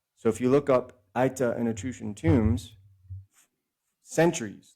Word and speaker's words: Aita: It is spelled A-I-T-A.